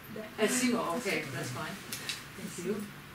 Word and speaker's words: ASIMO: going to say oh he's pronounced Asimo Asimo okay that's fine thank